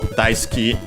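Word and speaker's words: 大好き: In this case then we have big liking big uh and so dice key uh actually accented on the first syllable.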